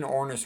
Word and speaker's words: Ornish: I always tell people Ornish rhymes with Cornish because they'll remember that.